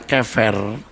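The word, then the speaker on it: קבר: Pelafalan saya, kefer, mestinya kalau dilihat dari bahasa aslinya itu lebih baik menggunakan kata V, kefer ya saudaraku.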